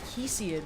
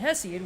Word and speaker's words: Hesiod: the podcast recently, because he pronounced it Hesiod, which is the modern pronunciation, but I pronounced it Hesiod, which is apparently the ancient Greek pronunciation. And they're both correct and comprehensible, it's just that, you know, they're different.